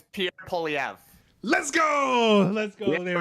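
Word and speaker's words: Pierre Poilievre: say it right did I get it it's Pier POV let's go let's go there we go a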